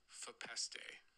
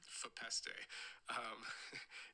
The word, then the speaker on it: Fepeste: So, the correct pronunciation is Fepeste. Yeah, Fepeste. It's actually the name of an old Watashi Wa song, and it's a made-up word, and I think you're